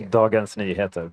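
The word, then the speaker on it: Dagens Nyheter: Peter, you're a climate uh change editor at the Swedish newspaper Dagens Niha. Say it properly for me. Darens Niha.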